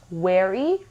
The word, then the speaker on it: wary: پس wary, very.